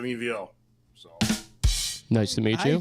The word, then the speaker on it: Ivo: And my name is Evo. It's spelled IVO, but it's pronounced like an evolution EVO.